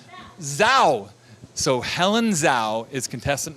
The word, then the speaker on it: Zhao: Helen, and your last name is pronounced Zhao.